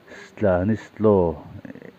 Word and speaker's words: Stanislav: saya Stanislav Lobotka kha Slovakia pronunciation chuan Stanislo atopa LAV kha LAW angin an lama minute chungpa chung